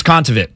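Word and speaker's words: Kontaveit: right um she's from Estonia Estonia it was contaview yeah that's what it was I remember them pronouncing it consummate last night I couldn't remember off the top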